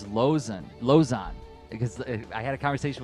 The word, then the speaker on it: Lauzen: And then finally, Todd Lauzen. Oh, did I say no? It's Lozan.